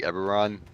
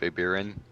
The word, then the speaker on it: Eberron: It sounded like Eberron instead of Ebirin. So I got really confused. Yeah. The most dangerous of all foes. Yeah. Eberron, like the setting.